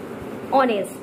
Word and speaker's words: honest: When we will leave the sound of H, when we will have need to keep on the silent mode of H letter while the pronouncing.